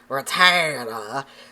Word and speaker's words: Rattata: I don't No, it's Rattata, not Ratta. Drives me insane.